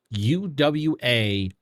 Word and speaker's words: Uwabami: I don't know how to pronounce her damn name. Wamp Bammy. It's Uwabami.